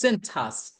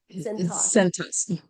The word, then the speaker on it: Cintas: Am I pronouncing that right, Beverly? It's Cintas. Cintas.